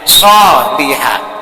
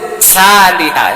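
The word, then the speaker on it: صالحة: Jadi cara membacanya, cara melafadzkan atau menyebutkan hurufnya sholihah, tidak disebut salihah, itu kan beda.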